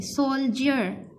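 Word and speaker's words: soldier: अब यहाँ पे जो है DI ये आवाज निकाल रहा है जे की, सोल्जर फौजी।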